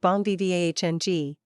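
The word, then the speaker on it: bon vivant: is always exciting always new two Bon vant pronounced something like Bon V vng the NG a muted nasal sounds similar to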